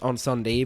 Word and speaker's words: Incendies: and so we still got to see uh incendies I mean I know it's pronounced on sunde but it makes me sound like a wanker when I say that Mak sound like a douchebag and uh incendies you still got to watch poly technique which